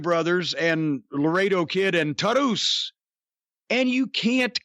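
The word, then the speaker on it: Taurus: the fucking Lucha Brothers and Laredo Kid and Tarus. And you can't call, that's the way you pronounce it.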